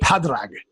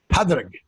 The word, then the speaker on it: Pádraig: And the reason for that is the Irish spelling of a name Patrick is spelled P-A-D-R-A-I-G. So it's Paddy's Day. Pádraig. Pádraig.